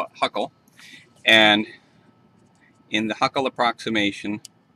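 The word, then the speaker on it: Hückel: I think if you were German you would pronounce this hugo but in america we call it Huckle and in the Huckle approximation we only include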